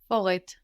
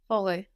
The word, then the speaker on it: forêt: Forêt. Good, but would you pronounce that last T? Forêt.